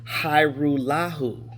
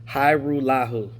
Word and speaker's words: Hajrullahu: It's like a Hajrullahu. That's how his last name is spelled, but it's pronounced Hajrullahu. Hajrullahu. And there's a J in there.